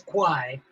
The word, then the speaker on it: Kwai: And that was, despite the fact the movie says Kwai, we were told the correct pronunciation is Kwai.